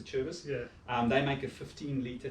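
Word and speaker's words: Acerbis: Then you can get a Cherbis one, or a Kerbis, however you want to pronounce that. I've always known it as a Cherbis.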